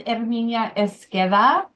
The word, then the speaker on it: Herminia Esqueda: Hi, my name is Herminia Esqueda, pronounced Air as in Air Jordan, me, and I am highly skilled at teaching and simplifying the complicated.